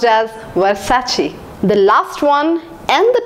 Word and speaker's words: Versace: brand long back in childhood I used to pronounce as Versace it was wrong it is pronounced as Versace the last one and the toughest pronunciation for